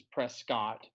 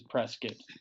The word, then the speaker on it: Prescott: it's not worth me saying it properly, which is Prescott. I advert to saying it wrong, which is Prescott.